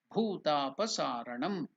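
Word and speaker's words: भूतापसारणम्: That's why we have written bhu. It's not bu. Bu means bu. Bhu means bhu. So while pronouncing, it has to be pronounced as bhutapasaranam.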